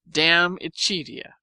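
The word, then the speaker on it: De Amicitia: We've finished Livy and De Senectute, and are now engaged with Diamicitia, pronounced Damicitia.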